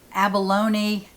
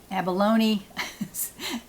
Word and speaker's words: abalone: magazine winner number three will receive the wool-ease abalone abalone i had two people tell me how to pronounce that thank you so very much i